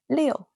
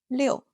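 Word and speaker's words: 六: Six is Leo. There's a hidden six in the shape. A fun visual trick. Leo.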